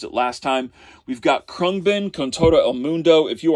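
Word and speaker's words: Khruangbin: a solo album again krung bin is how you say that but definitely check them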